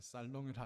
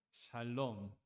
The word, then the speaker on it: 샬롬: 샬롬. 발음을 잘해야 됩니다. 살롱이라 하시면 안 돼. 샬롬.